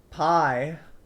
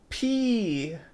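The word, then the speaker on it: π: Pie. So I don't want to get some pie at the moment, but I need to go pee. Pee. And yeah, same pronunciation as the letter P.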